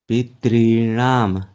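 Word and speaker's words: पितॄणाम्: उपग्रह, पितॄणाम, दो ता का उच्चारण नहीं होगा, पितॄणाम, दो ही हो रहा है। पितॄणाम, री को ही दीर्घ करना है, ता को डबल नहीं।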